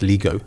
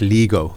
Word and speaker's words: Lego: No, it's Lego. No, it's not. It is. It's called Surely not. No, it's Lego. Isn't it? Yeah. That's how the Danes will actually pronounce it.